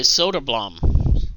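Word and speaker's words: Söderblom: Okay, Soderblom.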